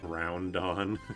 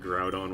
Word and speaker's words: Groudon: Groundon. I never said Groundon. But I did for a while think like I I owned Ruby and but I still thought that Groudon was fire type because